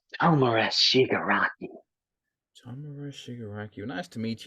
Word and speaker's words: Tomura Shigaraki: It's pronounced Tomura Shigaraki.